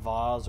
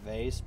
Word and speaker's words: vase: whole whole war over whether it's pronounced Vaz or vase but Rubin never actually